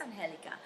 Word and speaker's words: Angelica: people can't pronounce, On Angelica Uh, or Angelica. And Angelica. Yeah, they're like, is it Angelica or Angelica? It's Angelica.